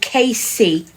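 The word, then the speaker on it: Kayce: So, when I had my shop, I sold a brand of bears called Casey Bears. And that's it's spelled K A Y C E. K A Y C E. Casey Bears.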